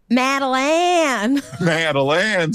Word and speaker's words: Madeline: Madeline. So it's just I'm emphasizing every single syllable. Is that the idea? Well, it just felt like you were saying the last syllable really wrong.